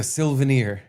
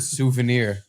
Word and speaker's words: souvenir: That it was a Silvenir. I said it that way for years. And no one corrected you? No, it sounded cute? Close enough. Yeah. I bet nobody even picked up that I was saying it wrong.